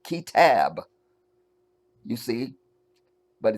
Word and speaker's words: Kitab: We call the book the Kitab, which is the Arabic word for book. Kitab. Kitab. I'll just say it without the accent. Kitab.